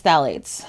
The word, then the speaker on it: phthalates: There's a lot of letters that don't make sense without like a vowel in between them in the start of this word. So I think it's phthalates.